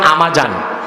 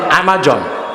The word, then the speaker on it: আমাজন: আপনারা বলেন আমাজন, মূল উচ্চারণ আমাজন। একটা জঙ্গল।